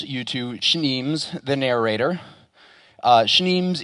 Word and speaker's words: Schneems: Schneems is pronounced like schnapps.